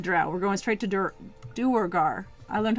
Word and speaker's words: Duergar: Duergar.